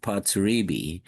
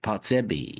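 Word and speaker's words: Potrzebie: It's a It's a Polish word.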